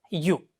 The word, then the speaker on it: ewe: How do you pronounce it? Yes, it should be pronounced as you.